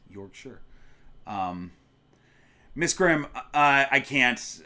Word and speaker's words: Yorkshire: Uh, Yorkshire, not Yorkshshire, even though that's how it's read. It's Yorkshire.